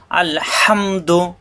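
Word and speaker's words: الحمد: আলহামদু আল দুই হরফ মিলে একসাথে উচ্চারণ হবে। হাসব দিয়ে হামেলবে সাথে হাম আলহামদু আলহামদু অর্থ যাবতীয় প্রশংসা।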